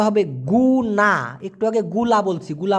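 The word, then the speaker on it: guna: হয় যদিও মালয়েশিয়ান ভাষায় জি ইউ এন এ উচ্চারণটা হবে গুনা একটু আগে গুলা বলছি গুলা মানে হচ্ছে চিনি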